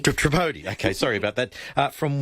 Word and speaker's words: Tripodi: And Annette, now how do you say your last name? Tripodi. So, Tripodi. Tripodi.